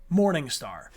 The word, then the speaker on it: Monseigneur: You just arrived at Castle Monseigneur, pronounced Morningstar. Your uncle's home for the past 20 years.